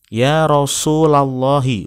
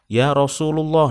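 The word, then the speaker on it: يا رسولَ الله: itu sudah langsung tahu misalkan bacanya yarosululoh Nah itu salah atau ia rosulillah Itu juga salah karena yang betul adalah Dina shop kan Ya ya rosulallahi ya nabiyallah in karena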